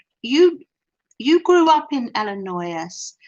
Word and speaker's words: Illinois: cathy grew up in illinois oh that's amazing oh so you you you grew up in illinois the s is silent ellen not oh which